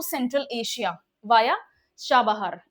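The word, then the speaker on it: چابهار: हमारे क्या trade ambitions हैं, link to central Asia via Chabahar. इसको क्या बोलते हैं, इसको छाबहार भी बोलते हैं, इसको शाबहार भी बोलते हैं। ईरानियन प्रोनाउंसिएशन इसका शाबहार है।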